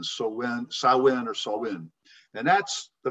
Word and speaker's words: Samhain: It is spelled S-A-M-H-A-I-N, but it's pronounced Samhain, S-O-W or S-A-W hyphen W-I-N, Samhain or Samhain.